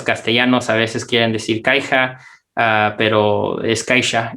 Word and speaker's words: Caixa: y me dice o se pronuncia caixa aunque debería ser caixa porque es catalán me dice y los